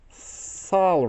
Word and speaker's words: Sol: Sol Ring. I mean, it's usually pronounced soul, but if I say soul, then, you know, people think of the wrong kind of soul.